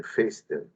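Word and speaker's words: Foerster: tiene la pinza de Fester forester se escribe pero se pronuncia pinza de Fester o pinza de anillos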